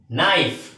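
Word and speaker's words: knife: কান ধরে হাটু বসা যেটা সেটাকে বলে নিলডাউন নাইফ এন আই এফ এখানেও কিন্তু কিসের উচ্চারণটা নাইনের উচ্চারণ তার সাথে আই আছে তাহলে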